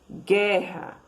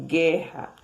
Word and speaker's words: guerra: pronunciado, ó, 2 letras, quando não é pronunciado U, 2 letras e um único som de K, queijo, guerra, ó, o U não é pronunciado, certo?